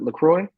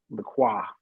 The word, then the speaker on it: LaCroix: I think that's how you pronounce it, LaCroix. Uh-huh. But I used to say LaCroix. I kept saying LaCroix because Mm, that's just how I was used to saying it.